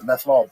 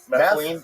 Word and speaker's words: methylene: upon uh was it methanol blue? Yeah. Do you take methanol blue? Yeah. Is that legit? I keep seeing stuff. That's not how you say it. What is the actual methane? Methylene. Methylene. Methylene.